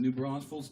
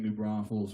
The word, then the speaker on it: New Braunfels: I said new braunfels I say it like ray Wylie every once in a while he has problem saying new braunfels without the extra s he likes to say